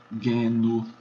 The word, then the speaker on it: genu: Então, o G é sempre duro, como em gato, guerra, mesmo diante de E e de I. Então, você tem a palavra joelho, que em latim é genu, daí vem genuflectir, ajoelhar-se, dobrar o joelho, na verdade.